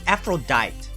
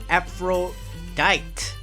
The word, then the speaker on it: Aphrodite: destroy our beautiful Aphrodite why do you pronounce this effort Akeem is this afro diet ab fro tight let's lure that's really how there's there it is pronounced after that is a Greek goddess family Lucia is gonna